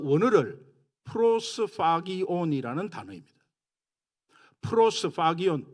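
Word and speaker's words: προσφάγιον: 프로스파기온, PH 발음입니다. 프로스파기온.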